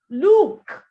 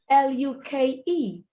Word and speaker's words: Luke: All three words wrongly pronounced. Look. That's a noun, not a verb. It's a name. Luke is a name.